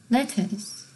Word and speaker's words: letter: 어 레터 우리가 알고 있는 편지 레터 액센트가 어디 오죠? 레터가 아니죠? 레터 액센트가 처음에 오죠. 그죠? 그 다음에 letters. 그것도 처음에 와요. 근데 letter 했을 때 R이 들어갈 수도 있고 안 들어갈 수도 있어요. 편지라는 발음에서. 그러니까 letter라는 발음에서 L-E-T-T-E-R에서 그 마지막 R을 발음하는 사람들도 있고 안 하는 사람도 있어요. 그리고 하는 지역도 있고 안 하는 지역도 있죠.